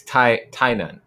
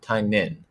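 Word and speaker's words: Tynion: Tai Nun. Tai Nun. Not Nun. Tai Nin. Tai Nin.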